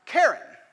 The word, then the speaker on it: Charon: hard ch right chaos you would assume quite correctly quite correctly that this word also starts with a hard k and it would be pronounced karen but that's only because